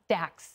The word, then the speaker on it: Dax: Dax.